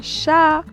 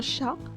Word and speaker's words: chat: After silence at the end of the verb, we are not supposed to pronounce the T. Okay? T. Certain word. Example, we have un achat, un chat, et trois, un toit, un bruit.